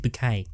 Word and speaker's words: Bucket: residence does it say the word bookie but pronounce it bouquet absolutely only king of